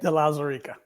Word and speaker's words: de Lauzirika: la zarika da chose de la sarica okay delazarica correct it's a very unique name so some